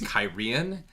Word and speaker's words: Cairhien: It is Cairhien.